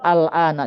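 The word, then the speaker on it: الآن: Kalauun zamaniun ya berakhiran fathah al bukan alani ya al min misalkan enggak dia tidak akan terpengaruh oleh apapun selalu alana dibacanya pakai fathah artinya sekarang sekarang thibun minal adalah mahasiswa dari India mahasiswa.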